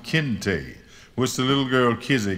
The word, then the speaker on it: Kinte: that his name was kinte a sharp two syllabic angular sound kinte which the little girl